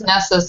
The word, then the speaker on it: Nessus: who is called nessus or nasus which one is it I like Ness nessus okay it's nessus in the audio book okay okay uh good